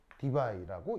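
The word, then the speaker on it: Debye: 무슨 뭐 있지 하여튼 아무튼 그냥반 이름인데 그냥반 이름을 따서 디바이라고 읽어. 알겠죠?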